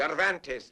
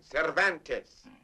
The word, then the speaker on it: Cervantes: Donkey Hoke by the Spaniard whose name is practically impossible to pronounce. Cvantes man. Cervantes.